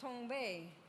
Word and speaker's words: Tongva: We are known today by several names, more commonly as the Tongva, pronounced Tongva, as my ancestors before me would have said it.